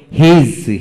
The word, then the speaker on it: his: তারপর আসেন দ্বিতীয় নম্বর নিয়ম, অর্ড এর শেষে এস এবং এস এর আগে এ, ই, আই, ও, ইউ থাকলে এস এর উচ্চারণ বিশেষ করে বর্গার্য এর মতো হয়। যেমন হিজ, হিজ, HIS, হিজ।